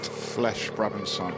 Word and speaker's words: Flèche Brabançon: Flèche Brabançon. That's your preferred pronunciation.